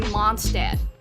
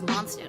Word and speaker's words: Mondstadt: And I still was in Mondstadt. No, sorry. The way, I think you don't pronounce it as Mondstadt. I think the correct way to pronounce it is Mondstadt, because it's German.